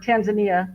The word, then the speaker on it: Tanzania: I'm getting we got someone listening from Tanzania, or Tanzania, the way Americans say it. Tanzania.